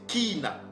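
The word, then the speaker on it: קינה: Et le Y, ça se lit comme un I. C'est pour cela que vous voyez que ici, on prononce ki. Donc, c'est kina.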